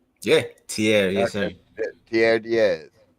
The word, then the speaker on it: Tierre: Now, correct me if I'm not pronouncing it right, man. Tierre. Yeah, Tierre, yes Okay.